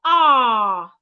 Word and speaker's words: are: The word are, A-R-E, the E is silent. So it's okay to say that the word are ends in letter R.